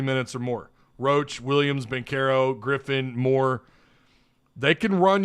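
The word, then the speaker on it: Banchero: pronouncing that right paul bencaro sounded me like they were calling him pancarro i i couldn't understand why they were pronouncing the b like a p but ben carroll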